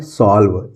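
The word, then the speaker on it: solve: का होगा 100 एल है तो आधा ल लिख देंगे और वी से हो जाएगा व ये लिखा हुआ है सॉल्व इ यहां पे साइलेंट है तो सॉल्व मींस क्या होता है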